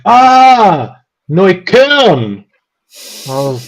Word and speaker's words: Neukölln: I was like, "Neukölln," and they're like, "Ah, Neukölln." I was like, Yeah, there. right. So if I don't really pronounce the K, you literally have no idea where I live.